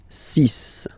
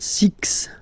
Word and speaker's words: six: And be careful here, because even if it's ending with this X, well, you'll have to pronounce it like S, S, okay? So you get the six pronunciation. Six. Six. Okay, so it's not six, it's six, all right?